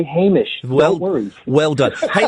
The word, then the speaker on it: Hamish: You say Hamish all the time, and I'm just going, no! Guys, please! Well, yeah, we don't encounter that name very often. So we do what we can. If we were to say his name again, believe me, we've been corrected often enough by now that we would say Hamish.